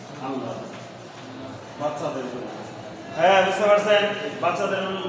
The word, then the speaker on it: আল্লাহ: বাতিল করে দিয়ে ল কয়বার উচ্চারণ হবে? দুইবার উচ্চারণ হবে। তাহলে উচ্চারণ হয় আল্লাহর।